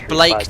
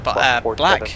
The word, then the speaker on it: BLAKE: Oh, it's Blake, not, I was saying Black. Pronounced Blake.